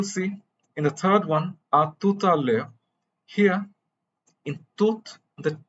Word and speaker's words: à tout à l'heure: Here, The H you will notice is silent. The H is almost always silent in French. So the next vowel is pronounced. E and U together are pronounced as E, and the R is usually a glottal R in standard French.